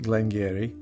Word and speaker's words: Glen Garioch: name looks and yes i am sure it's pronounced glengarry because i checked with roy at aqua vitae